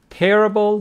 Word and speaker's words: terrible: Terrible with the stress on the first syllable, and terrific on the second syllable.